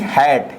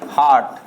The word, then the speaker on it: hate: HATE, हैट। क्या पढ़ेंगे? हैट। एक ही उच्चारण की मात्रा का उच्चारण हो रहा है यहाँ पर, हैट। क्या पढ़ेंगे? हैट पढ़ेंगे, ना कि हार्ट। हार्ट हमारा गलत हो जाएगा, ठीक है ना, हैट पढ़ेंगे, हैट।